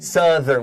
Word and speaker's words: southern: it becomes so third so ow becomes uh becomes south southern southern southern with a short u m tanzanian yeah this